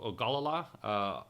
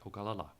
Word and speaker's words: Ogallala: You have what they call Ogallala aquifer. That's right, I said it right, Ogallala.